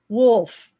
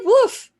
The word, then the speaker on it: Wolfe: this is dr david wolfe did i say it right judy and philip um and all of you who corrected it you know i'm spanish so i said woof you know so sue